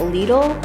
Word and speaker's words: Lidl: was super not impressed with the prices that Lidl is apparently how you say it all the